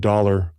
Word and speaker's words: thaler: dollar so the word dollar originates from the German word thaler in low Saxon this is pronounced as dollar which means of the